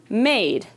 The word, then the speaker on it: made: Like in this word, made. Made. The E is silent, but the A is the long A sound.